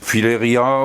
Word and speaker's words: filaria: Ça, c'est un filaria. Le filaria, c'est de la même famille que les oliviers. Filaria ou filaria, les deux prononciations sont bonnes.